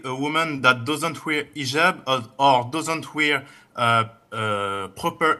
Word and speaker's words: hijab: What you're referring to is hijab with an H.